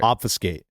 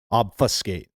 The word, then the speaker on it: obfuscate: Obfiscate. Obfuscate. Yeah, it is spelled.